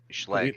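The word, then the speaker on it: Schlage: Is that how it's That's the pronounced? common house brand. That's like that's your Chevy of locks. Okay, Schlag.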